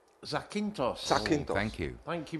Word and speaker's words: Zakynthos: How do you pronounce this? This should be Zakynthos. Zakynthos.